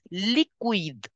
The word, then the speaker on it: liquide: Liquid will be pronounced as liquide.